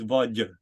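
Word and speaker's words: vágy: You don't pronounce the G, it's Vaj.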